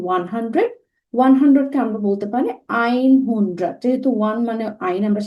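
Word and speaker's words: einhundert: আর নয়েনজিশ যেটাকে আমরা বলছি 90, 90-র পরে যখন আমাদের আর রাউন্ড নাম্বার আসে 100, 100-কে আমরা বলতে পারি আইন হুন্ড্রাড।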